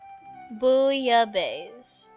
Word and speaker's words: bouillabaisse: Bouillabaisse.